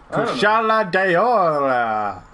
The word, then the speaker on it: Kushala Daora: Kushala DAORA. That's their name, and that's exactly how you pronounce it, with accent and everything.